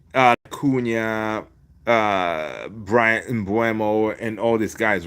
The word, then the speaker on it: Mbeumo: And again, uh I just watched today how to pronounce his name. It's Brian uh Bumo, right? Bumo.